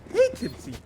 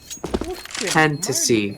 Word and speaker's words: Fantasy: Hatency. Fantasy. It's fantasy, not hatency. Oh man, I've been saying it wrong.